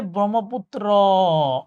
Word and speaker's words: ব্রহ্মপুত্র: লাস্টে উচ্চারণ হচ্ছে ব্রহ্মপুত্র, অ, আর লাস্টে উচ্চারণ হইলে ওটা নদ হবে।